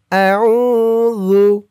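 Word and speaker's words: أعوذ: জু, জালের উচ্চারণটা একদম নরম হবে। জিহ্বার মাথা উপরের দাঁতের মাথার সাথে লাগবে জালের এই উচ্চারণটা করার সময়। আউযু।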